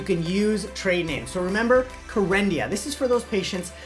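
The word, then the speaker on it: Kerendia: medication first in class it rhymes with for India it's called karendia exactly and the actual medication generic name is you know what's great about the exam you can use training so remember corendia this is for those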